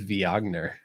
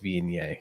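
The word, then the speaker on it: Viognier: like oh this this reminds me a lot of v ogner because i was like you know that's you know how it's spelled i didn't even think like google how it was pronounced and brad was like it's pronounced being yay and i was like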